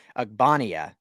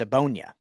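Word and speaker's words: Ogbonnia: guy from ucla uh i always say it wrong i i've been saying agbania but it's a bonya which is way easier i made it harder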